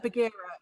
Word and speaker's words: Bagheera: to pronounce it. Bagheera. Bagheera.